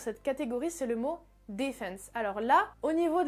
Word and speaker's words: defense: Mais typiquement, le mot defense, en anglais britannique, l'accentuation se fera sur la première syllabe, donc le D, defense, defense, et en anglais américain, ça se fera sur la deuxième syllabe, donc defense, defense, defense.